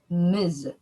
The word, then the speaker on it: Ms: of our group answered it's miz it is written as ms and is pronounced as an m ms kind of